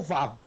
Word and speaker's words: vav: Então, o vav se pronuncia como se representa V e o zain como Z.